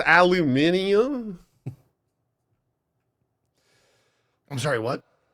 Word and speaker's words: aluminium: I just used to call it aluminum, but now it's aluminium.